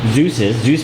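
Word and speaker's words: Dzus: The bumper is held on by Zeus fasteners. Zeus fasteners, which are spelled very awkwardly. It actually starts with a D. So it's not spelled like your Greek god, Zeus, but it's almost pronounced like it.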